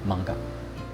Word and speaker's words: 萬華: 它寓意著永恆的繁榮，而「萬華」的日文發音其實是「 Banka」。